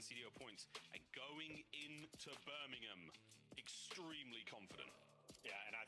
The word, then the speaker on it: Birmingham: And it is, you say it right, it's Birmingham, not Birmingham. Not Birmingham. There's no bovine, no pork involved.